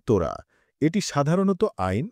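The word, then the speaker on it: תורה: তাওরাত শব্দটি হিব্রু ভাষা থেকে এসেছে এবং এর উচ্চারণ তোরা।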